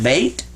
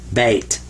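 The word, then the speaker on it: بيت: I put a t what do I have is that bait and that's what it says in Arabic this says ba and that means be quiet like this silent Y is right here in English this means be quiet and this is T ba bait so that's how you say house in Arabic now this was just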